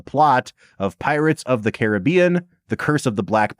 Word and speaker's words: Caribbean: it Pirates of the Caribbean yeah no that's that is like not Kosher yeah no you have to mispronounce it on purpose just because that's how this movie is pronounced rul do you want